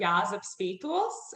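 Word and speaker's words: Jāzeps Vītols: Tell us about the next piece and pronounce it for me, please. So it's by a Latvian composer, Jāzeps Spītols, and It is called Zacchaeum, or in English, Rabbit Hair Mother.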